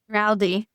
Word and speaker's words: Baraldi: Baraldi.